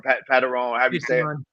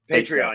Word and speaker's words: Patreon: sign up for my Patron Channel or pattern how do you say it patreon patreon yes so I go on